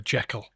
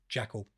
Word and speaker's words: Jackal: Are you saying Jackal and Hyde or Jekyll? Jackal.